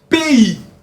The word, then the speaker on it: pays: c'est lycé pas franis on dit pays pay vous pouvez répéter pays pays pays oui est-ce com la lettre P il la lettre I p p p p